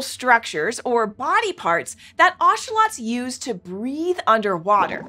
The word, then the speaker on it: axolotl: you saw an oselot some people call them Axel but it's actually pronounced oselot oselot are a special type of aquatic salamander